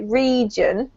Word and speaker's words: region: so the first one you said was region you've got to go for the really long e sound okay region and then the other